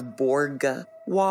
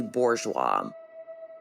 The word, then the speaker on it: Bourgeois: I also want to clarify I believe I pronounce lon's last name as borwa when it's actually Bourgeois so I just want to get that right